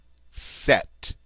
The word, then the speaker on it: cet: All right, you're going to use the form C-E-T, set. All right, now I know that sounds like the feminine form, but as you can see, it's spelled differently. It just has one T on the end.